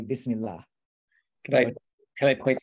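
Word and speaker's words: بِسْمِ ٱللَّٰهِ: the name of god you would say bismillah and then you would drop this last syllable even though you're still writing it you'll still write the the last syllable on there but because you're stopping at that uh point you drop that last syllable so you can say bismillah can i can i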